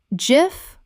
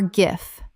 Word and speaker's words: gif: cache cache Word 78 gif common mispronunciation jif correct pronunciation jif or gif This is one of the great pronunciation debates in the internet age. Both are accepted, but jif is the creator's preferred version.